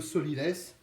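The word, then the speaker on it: sot-l'y-laisse: cette partie s'appelle le sot l'y laisse il paraît que celui qui le laisse et un saut un sens écrit comme ça se prononce sow est sauté l apostrophe y plus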